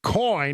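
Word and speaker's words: Coign: coin c i GN the g is silent but it's it's in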